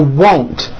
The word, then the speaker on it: won't: Now won't. First say whoa with the W sound at the beginning and at the end, and then you add nt. Whoa, nt. Now you put it together. Won't.